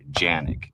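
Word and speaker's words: Canik: Okay, so let's talk about the Canic TP9 SF a little bit. This is a gun made in Turkey, and in Turkey they pronounce the name of the gun Janik.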